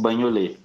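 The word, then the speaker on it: Bagnolet: Igual o banholê. No primeiro T não aparece no final.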